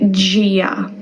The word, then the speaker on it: Dia: I would say gia like a J sound at the start.